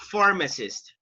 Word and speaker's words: pharmacist: I think they got Pharmacist. Where do you have the stress? You say pharmacist, pharmacist, or pharmacist? Where do you have? Pharmacist. Number 3. So the stress goes on the first syllable, guys.